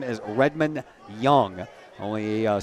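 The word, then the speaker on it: Jung: whose name is Redmond Young. Only spells that with a J u ng, but it's pronounced young.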